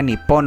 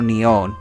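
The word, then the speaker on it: 日本: El nombre de Japón en japonés se pronuncia Nippon o Nihon.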